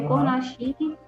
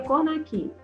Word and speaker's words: Cornachini: Cornachini é Cornachini. Lê Cornachini, mas pronuncia Cornachini.